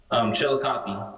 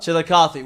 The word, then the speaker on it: Chillicothe: How do you pronounce it? Chillicothe. Chillicothe.